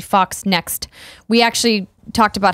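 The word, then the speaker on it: FoxNext: zero zero zero says I think you both refer to the publisher of the alien game is Fox net it's actually Fox next we actually talked about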